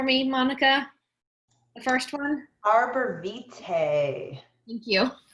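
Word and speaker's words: arborvitae: Pronounce that one for me, Monica. The first one. Arbor Vitae.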